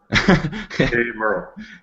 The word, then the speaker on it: Haimerl: of your last name it's like hey to a guy named Merl hey Merl hey Merl okay got